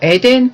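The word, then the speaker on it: אדן: 은받침은 히브리어로 에덴 케세프입니다. 은이라는 뜻의 케세프는 어원이 갈망하다, 사모하다인데요. 에덴은 받침, 기초라는 뜻인데요. 철자는 다르지만 발음은 에덴 동산의 그 에덴이랑 똑같습니다.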